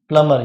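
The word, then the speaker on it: plumber: है, क्या होता है प्लम्बर, ये बी जो है यहाँ पर साइलेंट होता है, प्लम्बर होता है, प्लम्बर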